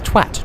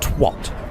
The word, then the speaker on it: twat: There is no O in twat. It's twat, not twat. If you say twat, you are a twat.